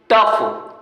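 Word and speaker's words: tough: आ गया एग्जांपल, देखो टफ, GH को फा पढ़ रहे हैं, टफ।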